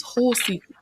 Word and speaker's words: Hull City: I found out how to pronounce Hull City's whole city. Whole city. Whole city. Whole like HOLE. I'm like, Whole wait, city. Wow, whole, that's crazy. a whole city. But I think the way it's pronounced is whole city.